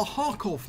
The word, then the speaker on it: Kharkov: battles is on the hakov map that's the correct way you pronounce it you don't pronounce the k park off okay